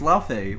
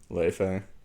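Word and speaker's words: Laufey: her name is le le but that's the name of Loki's mother in Greek myth not Greek in Norse mythology yeah is uh LA or Le her name is pronounced Le technically by Icelandic yeah but uh I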